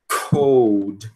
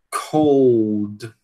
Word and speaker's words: cold: A gente tenda a dizer o quê? tem dizer cod, mas não, a gente tem que pronunciar o l cold cold, né?